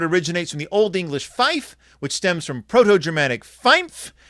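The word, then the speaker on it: five: In NATO radio telephony, 5 is pronounced fife to avoid confusion with similar sounding words.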